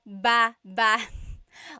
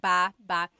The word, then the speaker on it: baba: Emphasis is on the second syllable syllable.